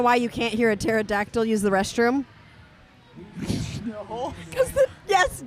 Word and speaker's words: pterodactyl: Do you know why you can't hear a pterodactyl use the restroom? No. Yes, Sirius got that one. The P is silent.